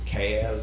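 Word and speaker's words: CAZ: Back in uh, 2007, the board entered into a 20-year lease with a corporation named, I pronounce it Cass. It's C A Z, Incorporated.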